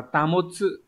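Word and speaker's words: 保つ: Từ này được đọc là tamotsu.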